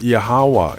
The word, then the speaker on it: Yahweh: The true name of the Creator is pronounced Yahweh, and for details on